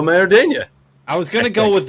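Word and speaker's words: Maridueña: I'm gonna spell it first. It's Xolo. First name is Xolo. Last name Mariduna. As Zolo Maradena. I was gonna go with Zolo, and then I probably would have said Meriduena.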